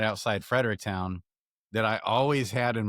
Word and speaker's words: Fredericktown: Fred E. Rick Town. That's how you Okay.